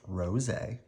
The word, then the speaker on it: Roget: is a picture of Peter Mark Ros pronounced Ros uh and this is